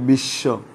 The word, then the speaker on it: বিশ্ব: শেষে বফলা যুক্ত হলে, শব্দের মধ্যে শেষে বফলা যুক্ত হলে বয়ের উচ্চারণ হয় না, বয়ের উচ্চারণ হয় না, তবে সংযুক্ত বর্ণটি দিতে হয়, তবে সংযুক্ত বর্ণটির উচ্চারণ দিত্ত হয়।